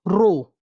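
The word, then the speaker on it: ρ: row L by a this sign is pronounced as row row L by a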